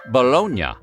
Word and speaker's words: Bologna: was born but in Italy that city is pronounced bolognia so why do we call this sweet meat